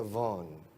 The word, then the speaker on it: Vaughan: La pronunciación de Vaughan, que es un apellido galés con una rama irlandesa también, se pronuncia Vaughan. Y la V hay que pronunciarla como V, que es una F vibrada, Vaughan.